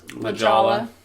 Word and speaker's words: La Jolla: La Jolla.